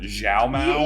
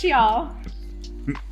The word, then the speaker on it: Xiao: I was calling her, what was it? Zhao Mao? You were saying it all wrong. It's Xiao. Which apparently, what would Zhao Mao mean?